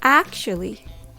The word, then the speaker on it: actually: to say this word first of all it starts with a a then the CH sound CH or you can even replace it with SH sound